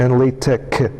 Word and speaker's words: LaTeX: it's Greek letter which is uh should be pronounced as so it's Tech and L Tech just getting some things right here but uh